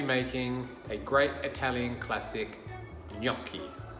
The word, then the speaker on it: gnocchi: a great Italian classic yaki spelt GN o c CH I the G in the N is pronounced like the letters N and Y in English coming together yeah yup key and very simple ingredients